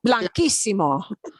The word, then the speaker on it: blanquísimo: To keep that K sound there, we do this. It's still going to have the K sound, all right? Blanco becomes, wow, just the white, blinding white, blanquísimo, blanquísimo, blanquísimo, so white.